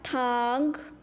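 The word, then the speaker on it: tang: Will be pronounced as thang. Thang. Repeat after me. Thang. The next finion is T-E-N-G. Will be pronounced as thang.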